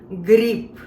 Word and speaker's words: гриб: I know we never learned the word mushroom in Russian, and it's a very interesting word to pronounce. Let's learn it. Grib, grib, grib.